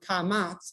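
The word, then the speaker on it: קָמַץ: and as you hear if you actually pronounce that word kamats it actually has the ah sound twice this sound commands or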